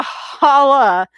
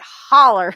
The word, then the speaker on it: holler: hauler it's not a it's not a holla and it and it's you gotta say it like holler because it's a holler and uh it's you